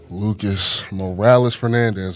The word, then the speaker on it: Lucas Morales-Fernandez: I got my guy, Lucas Morales-Fernandez. That's how you pronounce it, right?